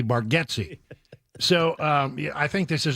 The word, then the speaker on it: Bargatze: And I mean, it looks to me, it's the way I would pronounce it, looking at the name, it's Bargatze all day long. He has only recently let it be known that maybe even he has pronounced it wrong at times, and that the actual pronunciation may be Bargatze.